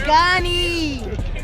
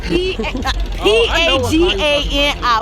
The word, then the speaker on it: Pagani: Pagani.